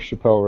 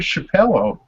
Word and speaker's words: Chappelle: See, I didn't even know the Dave Chappelle reference.